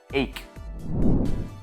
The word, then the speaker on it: ache: But in the word ache, it is pronounced as cut, ache.